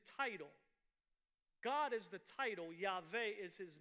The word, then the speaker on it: Yahweh: But generally, the idea is this is the name pronounced Yahweh or Yahweh, which would be translated "He who is." Tell them Yahweh sent you. Sometimes pronounced Yahuwah. Again, this is all because of the possibilities of what the vowels are.